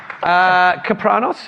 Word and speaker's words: Kapranos: From Franz Ferdinand, please welcome Alex Kapranos and Bob Hardy. Yeah, you too. Hello. Welcome, gentlemen. Kapranos, was that correct pronunciation?